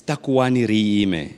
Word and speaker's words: Takuwani Riime: Talk to me about the theme, how you pronounce it correctly, and its relevance. Yes, it's Takuwani Riime, and what it means is that let's stand up and stand together.